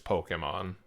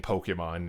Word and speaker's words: Pokémon: Ignore the E in Pokemon. It's yeah, I think that's a little advanced for you. It's a common misconception. A lot of people pronounce it Pokemon or when it's Pokemon. And that's what that little accent above the E signifies.